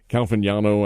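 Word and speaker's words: Caglianone: Calvignano, I think is how he says his name. The G is silent in there.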